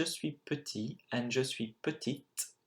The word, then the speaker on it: petite: Now you would have noticed that je suis petit and je suis petite, even though you added an E at the end of petite, the pronunciation changes quite a lot.